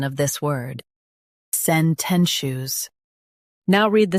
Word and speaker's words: sententious: sen ten shus sententious Stress ten and keep shush light.